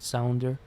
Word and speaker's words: Sounder: the platform that's called sounder so you pronounce sound and then you put an er in the end sounder and you can pay